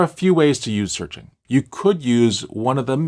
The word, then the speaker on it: SearXNG: The tool I like to use is called SearXNG, though it's spelled SearXNG.